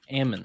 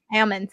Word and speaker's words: almonds: yourself the l is silent like salmon how much is a pound of almonds almonds i don't know almonds almonds the d is also